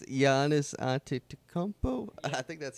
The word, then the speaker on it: Giannis Antetokounmpo: I think it's Giannis Antetokounmpo. Yeah. I think that's how the pronunciation.